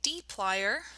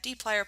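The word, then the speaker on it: dplyr: looking at what is called the d-plier and so that's how you pronounce that d-plier package and again this isn't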